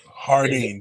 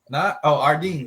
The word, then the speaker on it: Jardine: Hardin, please don't pronounce that, Jay. Ardeen, just Ardeen. Hardin, you'll get cursed out.